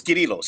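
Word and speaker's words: Κύριλλος: it don't no no we can say cyril just don't say cyril his name was kirilos his mama called him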